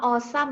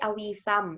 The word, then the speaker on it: awesome: ว่า Wow Cool Awesome อ่าน ว่า Awesome นะ จ๊ะ ไม่ ใช่ aum And So On ก่อน